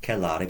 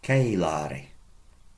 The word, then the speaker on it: celare: Notice the long E. Not celare, but celare. Approximately double the length of time to pronounce it, to enunciate it.